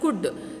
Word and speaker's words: could: take the example of could c u l d l though L is silent but uh though L